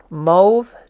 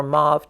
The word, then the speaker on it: mauve: pink Vermilion azarin crimson mve taupe or mauve taupe however you want to say that old mauve or old mve I found out that there is an English pronunciation and a British pronunciation so it's a French word say it however you like at the end of